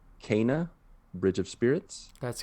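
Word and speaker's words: Kena: i mispronounce because i can't ever get this pronunciation right but i think it's cana bridge of spirits that's correct yeah i'm pretty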